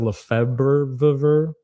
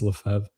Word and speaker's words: Lefebvre: But Archbishop Lefebvre, which his name doesn't look like it's pronounced that way, which is, it's French. So I guess it doesn't have to. It's just really funny. It looks like Lefebvre, but it's Lefebvre.